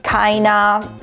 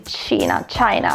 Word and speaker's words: China: Comunque China__time, che c'era una ragazza una volta che non sapeva come si leggeva il mio nome, Kaina, ragazzi, China, dai, su, forza.